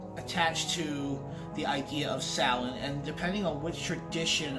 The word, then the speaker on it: Samhain: So Samhain, or pronounced Samhain, not Samhain, Samhain, it is one of